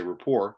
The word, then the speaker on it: rapport: wouldn't know this but the t is silent please say report you'll sound better as